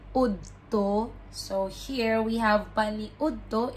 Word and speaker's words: paniudto: Paniudto. Paniudto, meaning lunch. You know, the way you pronounce the word makes you sound like a Bisaya speaker. So, it's not paniudto. It's paniudto. Paniudto.